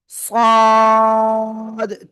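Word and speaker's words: ص: জিহ্বার আগা, সামনে নিচে 2 দাঁতের পেট ও আগের সাথে লাগে, মোটা আওয়াজে উচ্চারণ করব। সাদ, 4 আলিফ টান, 4 আলিফ।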